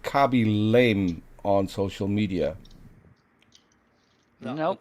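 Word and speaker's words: Khaby Lame: Kabi Lame. It is spelled Khaby, and his last name is Lame, as in Lame.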